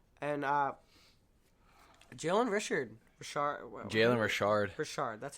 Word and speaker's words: Richard: Richard, that's how you say it.